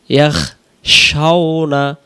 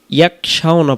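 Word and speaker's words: يخشون: ইন্নাল্লাযীনা ইয়াখশাউনা আমরা অনেকেই খেয়াল করি, এটাকে আমরা অনেকেই ইয়াকশাউনা পড়ে ফেলি। যদি আমরা এখানে ইয়াকশাউনা উচ্চারণ করি তাহলে এই খ অক্ষরটা কাব অক্ষরে রূপান্তরিত হয়। কারণ ইয়া খ জবর ইয়াখ আর ইয়া কাব জবর ইয়াক, তাহলে আমরা এখানে খয়ের মতো ভেঙে উচ্চারণ হবে ইয়াখ।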